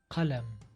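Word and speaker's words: قلم: This letter is similar to English K but it's pronounced further back in the mouth. Q. Qalam.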